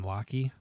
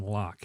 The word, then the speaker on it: Locke: by a gentleman by the name of john lockey absolutely john locke lock excuse me john locke i believe that is the correct pronunciation it's john locke okay so he the